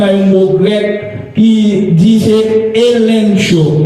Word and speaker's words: elencho: Il sortit dans un mot grec qui disait elencho, E-L-E-N-C-H-O, elencho, vous voulez prononcer le comme ça.